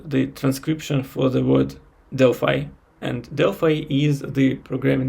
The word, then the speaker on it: Delphi: and other stuff and in Russian I always uh named this as dely but in English it is called Deli so it was quite unusual for me to pronounce this word in English and I recalled all